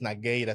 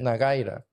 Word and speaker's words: Nagueira: ti nira o sea lo podemos pronunciar tal como se escribe es solamente que se se se lee nagira pero es nagira se pronuncia nagira en garífuna es en